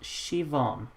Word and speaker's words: Siobhan: voter Shi boham that's how you pronounce it shuvorn shovan Chauvin but there's a b in it I'm so confused anyway 12 points of the United Kingdom there Siobhan is pronounced Shivan that's so that's trippy it was like with